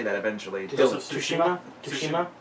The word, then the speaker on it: Tsushima: that eventually tales of Tsushima kijima can I say the Tsushima to see the T is silent yeah Tsushima game yes